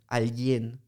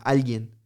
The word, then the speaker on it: alguien: It's like a Spanish speaker would never stress the second syllable. Yeah. We stress the first one, alguien. Yeah. And you said alguien. That's a Portuguese thing to do.